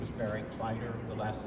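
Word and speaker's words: Kleider: My name is Barry Clyder. The last name is spelled K L E I D E R.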